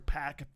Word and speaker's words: PAC: heel persona you know POC did that or I'm sorry PAC that's how you pronounce it me pack went to